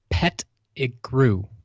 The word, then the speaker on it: Pettigrew: The last name, when pronounced syllabic, with syllables, there we go, is Pettigrew. Play on words seems so obvious now. Yeah. He was a pet, and then he grew.